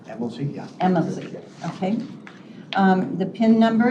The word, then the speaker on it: Amelzi: Is that pronounced correctly? Amelzi, yeah.